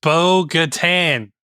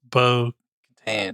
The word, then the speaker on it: Bo-Katan: It is Bo-Katan. Bo-Katan, whatever. You put it in. You make it sound like a beach resort. It's Bo-Katan.